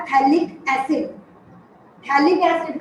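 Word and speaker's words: phthalic: थैलिक की spelling आप लोग पहले सुनिए। इट इज PTHALIC। थैलिक में जो P है वो साइलेंट है, इसलिए हम लोग बोलेंगे रिएक्शन विद थैलिक एनहाइड्राइड।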